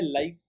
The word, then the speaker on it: live: अब लिव को दो तरह से प्रोनाउंस किया जाता है। पहला तो है लाइव, LIVE, दूसरा है लिव, LIVE। सो इफ यू से लाइव, लाइक लाइव shows, the meaning changes.